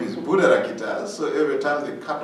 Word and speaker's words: Buddharakkhita: in the society of course they cannot be pronounced my name my name is Buddha Rokita so every time to cut off my name